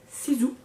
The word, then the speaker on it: Sisu: Ça, c'est de la marque Sisu. En tout cas, je sais pas si eux ils prononcent comme ça, mais moi oui, parce que un S en 2 voyelles, ça fait Z.